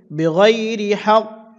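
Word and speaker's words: بِغَيْرِ حَقٍّ: অকফর সময় কফে কলকলা করতে হবে। আর এখানে যে কলকলা হয়েছে এই কলকলাটি সবচেয়ে বড় কলকলা হবে। উচ্চারণটা হবে এভাবে, বেগয়রি হক, এভাবে বড় করে একসাথে এটি বলে দিচ্ছি।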